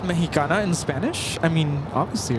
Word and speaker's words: Mexicana: See, it is pronounced Mexicana.